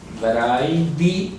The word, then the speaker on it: hebraidi: Se pronuncia hebraidi. Mire que es diferente a hebraisti. Hebraisti, y este es hebraidi dialecto.